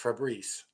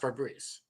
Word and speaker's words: Febreze: Apparently, it's spelled Febreze, but it's pronounced Febreze. There's only I've only known it as Febreze the whole time. yeah, but it's spelled Febreze, For breast. Ah. but it's pronounced Febreze.